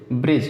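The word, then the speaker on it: bridge: ब्रिज देखिए full होता, ब्रिज में जी के पहले डी आया साइलेंट रहेगा।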